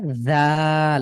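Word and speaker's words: ذال: যাটা একটু আপনার শক্ত হয়ে যাচ্ছে, দাল উচ্চারণে জিভটা বের হবে এবং দাঁতের সাথে লাগবে। দা, হা, যা দা। হাজা হ্যাঁ, একটু দালটা উচ্চারণ করবেন তো, শুধু দাল। জাল পুরো লেটারটা জাল এভাবে উচ্চারণ করবেন।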